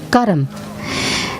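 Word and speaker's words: कर्म: myself and my actions this word actually in hindi or in in sanskrit is pronounced karam and the literal translation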